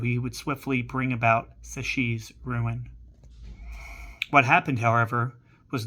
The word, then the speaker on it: Psyche: not first shown him psych. I'm going to look that up real quick. Sashi is how you pronounce it. I was completely way way off.